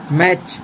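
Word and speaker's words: match: That H silent. मैच T silent, rhythm T silent, Depp B silent,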